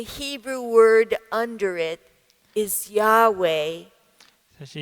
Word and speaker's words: Yahweh: and now, using the same consonants, we call it Yahweh.